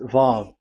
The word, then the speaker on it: Vav: So it's V as in Vogue. So it's really V. How to read Vogue? So the word, the shape Vav is really pronounced V, like Vogue. That is it, pronunciation. So here in this side, it's pronunciation. This is pronunciation. So according to the old Hebrew word today, those who, the owner of the word, I mean, so it's a V. So don't change it into W.